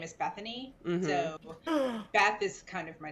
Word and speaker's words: Bethany: and stuff with people whenever i say my name is bethany they're like oh hi stephanie and i'm like no it's bethany and so it just